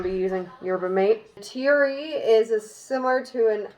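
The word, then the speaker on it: tereré: to be doing is I hope I am pronouncing this half decently it's teary at the end I would say that'd be Terraria Terraria Tara Ray or something it is a drink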